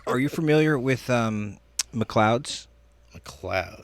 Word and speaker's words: McLeod's: it is the coolest place and it's mccloud mcleod's m-c-l-e-o-d-s mcleod it's like spelled like a scottish way you know and uh